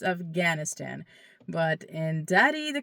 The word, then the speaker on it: Afghanistan: Okay, so as I was saying, if you want to say the word Afghanistan correctly, like a daddy speaker would say, you would say aistan. Okay, there's a in there. Aistan. Okay, that's how you say it correctly.